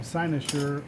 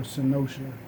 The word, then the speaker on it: Cynosure: Like the name of my lab, Cynosure or Cynosure. Dictionary offers two pronunciations. I like Cynosure because then I can turn on my southern accent and say, we're a sign of sure quality.